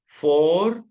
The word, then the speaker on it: Vorstellung: V is pronounced as F or F. So we will say Vorstellung.